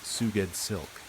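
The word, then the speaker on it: Sgouedslk: S G O U E D S L K pronounced Suged Silk.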